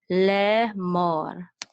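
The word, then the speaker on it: לֵאמֹר: So this is a mem with a holem, mo, and this is a resh. So this is So mor, le mor.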